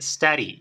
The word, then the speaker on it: study: base study study Okay este verbo en particular muchos nativos lo van a pronunciar como una r vale study Yo también Me he acostumbrado ya a pronunciarlo con study como una r pero si lo haces con